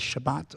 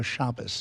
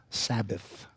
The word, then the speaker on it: Shabbat: I usually go with the people whose language it is. So, I would go with Shabbat or Shabas, not Sabbath.